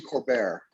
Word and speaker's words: Colbert: It's actually Colbert is the pronunciation of my name, but we threw around